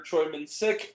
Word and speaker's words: Choi Min-sik: is Stars uh the great um Korean actor Troy Min sick as or minsic Choi if you will either or I've heard it pronounce it either way I'll say Troy him